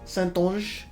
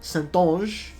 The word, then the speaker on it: Saintonge: It is Saintonge. I was told by Viri that I got it mostly correct. It's not Sainton, it's Saintonge, just a ZH at the end.